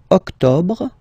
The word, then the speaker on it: octobre: Septembre, then same thing here, don't insist on the final E. Octobre, octobre, octobre.